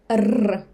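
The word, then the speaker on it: р: When I say rr, my tongue do very interesting movement inside. But, every time that English speaker try to pronounce it, all I hear is just rr rr rr, because their tongue not used to move like that. It's like vibration rr.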